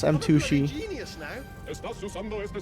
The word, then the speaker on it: M2shi: Yes, Pizza Post, you should check out my second YouTube channel pronounced M2shi. M2SHI.